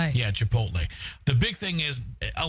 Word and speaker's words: Chipotle: Yeah, Chipotle.